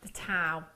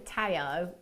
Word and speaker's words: tao: It might be that you, it's called the tau. People call it the tao, but that's not how it's pronounced.